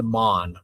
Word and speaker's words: Maughan: I can't, well, the English turned it into Mon, right? But I think the original pronunciation, if you went to like Scotland or Ireland, it'd be like Magooin or something, or Mogahan, I don't know.